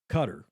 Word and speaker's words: Qatar: through your comments uh cutter qatar some people pronounce it cutter is said to be